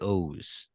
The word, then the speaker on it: Oz: 2, Secret of the Oz. There's a lot of precedent for OZ being Oz. Yeah. There's like stone cold precedent that's pronounced Wizard of Oz, Return to Oz, Dr. Oz, the show Oz.